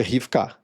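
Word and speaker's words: רבקה: Então, nas traduções tradicionais aqui vai estar Rebeca. Mas a pronúncia mesmo da palavra mais próxima que eu consegui encontrar com a grafia do português brasileiro foi Rifkac. É mais ou menos assim que se falaria no idioma original.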